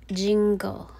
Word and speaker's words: jingle: back to the word jingle okay the letter e here is a silent sound okay it's a silent e okay that's why you just hear jingle okay jingle silent e